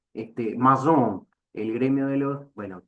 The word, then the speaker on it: maçon: Macón. Ah, bueno, no se pronuncia así. Ahí va, como dice Guerra, maçon, el gremio de los, bueno, perdonen mi francés, es Bueno, más la bien de pronunciación provincia.